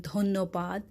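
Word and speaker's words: ধন্যবাদ: You may wonder why I have written dhoniobad, but I am saying dhonnobad. So this Y is for the wave here. So some people prefer the proper transliteration, like this is the symbol of yaw sound. That's why for this yaw sound, we must take Y in English.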